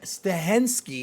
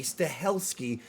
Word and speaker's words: Stahelski: newest in the action thriller series from Chad stahensky stahelski oh that's true pronouncing his name he's the director of all